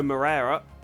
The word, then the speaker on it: Moreira: Alongside him is rookie Diogo Moreira. I hope that's pronounced correctly. I've taken Moreira to be pronounced the same way Oliveira is pronounced because he's Brazilian and they speak Portuguese, so I hope that's